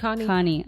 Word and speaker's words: Khani: lovely lovely lovely Tanya Connie and it has been such an honor did I say your last name right again yeah Connie okay I'm not great